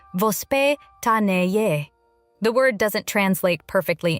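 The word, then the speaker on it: воспитание: To understand why many Russian children develop healthier eating habits, you first have to understand a Russian parenting concept called vospitaniye. Pronounced vos pe ta ni ye.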